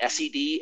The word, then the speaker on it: sed: god no no no sorry neil you do not call it scd you call it sed and awk i call